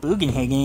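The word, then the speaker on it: Bugenhagen: your respects to fellow buan hogin come on boan hogen okay I was always pronouncing him bogenhagen in the original you can let them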